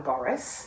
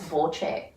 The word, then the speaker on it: Borce: I call him Boris. No, I think it's Borche. Right. Boris and Borche.